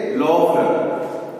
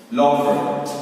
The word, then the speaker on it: Louvre: हम मूसी दू इसको कहते हैं, मूसी दू तो मूसी दू रह जाएगा, और LOUVRE को कहेंगे लॉवरे, ठीक है। तो और एक मूसी दू लुवेर, ये जब लिखेंगे स्पेलिंग तब बुक में जैसे है वैसे लिखेंगे,